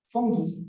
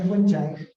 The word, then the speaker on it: fungi: Yeah, so sabi kasi ng mga Germans, fungi daw yun, hindi raw fungi. Kasi nga, yung pag, kunwari, paano mo ba ipopronounce yung singular form ng fungi? Di ba, fungus? O, di ba? Pinalitan mo lang yung US, naging G, naging J na yung G, no?